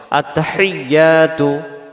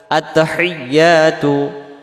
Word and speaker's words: আত্তাহিয়াতু: ইয়ার পরে তাসজিদ আসছে এই তাসজিদটা সহ আদায় করার জন্য বলতে হবে আত্তাহি এমন আওয়াজ হবে আত্তাহিয়াতু আত্তাহিয়াতু আত্তাহিয়াতু ইয়া অক্ষরটা